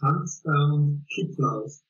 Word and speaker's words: Hans Kittlaus: Well, it's very German and the pronunciation is Hans Kittlaus.